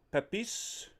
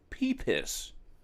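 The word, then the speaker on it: Pepys: Even his approach was not unlike that of Samuel Pepis. I believe that's how you say it. Quick interjection from the future. It's actually pronounced peeps, but you don't say it peeps because it's British.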